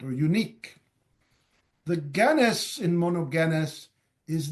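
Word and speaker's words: μονογενής: English as begotten is monogenes the G is pronounced as in go or G monogenes what does it mean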